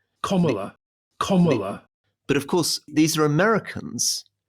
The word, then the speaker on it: Kamala: Kamala Harris, Kamala Harris, Kamala Harris. American commenters have tried to help Alistair and Rory out. So what all the explainer says that you have to pronounce it like comma. Kamala.